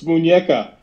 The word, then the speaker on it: muñeca: So we're mispronouncing it. I'm not. No. It's muñeca.